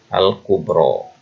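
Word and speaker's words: الكبرى: Ini dibacanya alif ini. Al-kubro.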